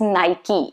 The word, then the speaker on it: Nike: to be porsha that's the best way of pronouncing it the next one that i have for you is nike it's not supposed to be nike no nike